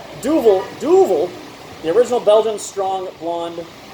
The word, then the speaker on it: Duvel: Am I pronouncing that correctly? Duvel. Yeah. The long U.